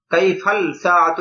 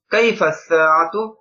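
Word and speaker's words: كيف الساعة: কাইফা সাআতু, ঘড়িটি কেমন, দেখেন এখানে আলিফ লামটা উচ্চারণ হয়নি, কাইফাল সাআতু এরকম না, কারণ সাআতুন একটি ঘড়ি, আস-সাআতু এখানে ওই যে সিনের শুরুতে আলিফ লাম আসার কারণে লামটা উচ্চারিত হবে না। কাইফাস সাআতু ঘড়িটি কেমন, আস-সাআতু জামিলাতুন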